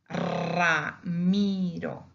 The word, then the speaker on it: Ramiro: When we have the single R in a beginning of a word or the end of a word, it becomes double. For example, we have Ramiro.